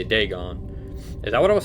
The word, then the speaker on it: Dagon: So that's how you say it, Dagon.